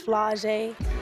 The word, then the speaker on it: Flau’jae: My dad's rap name is Camouflage. My name's Flau’jae. Flau’jae Monet. It rhymes, so I guess that's why he did it.